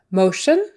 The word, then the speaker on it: motion: Motion. Motion. Let's put that plan in motion. The T-I-O-N, that's like an S-H-U-N. Shun. Shun. Motion.